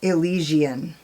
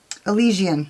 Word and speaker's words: Elysian: or characteristic of heaven or paradise and it's pronounced elysian yeah elysian so anyways yeah i mean i've been wondering